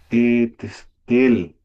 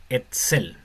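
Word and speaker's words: אצל: Eh, Testel. Sería como Eso se pronuncia Etzel. el artesare. Es como una TZ. Etzel.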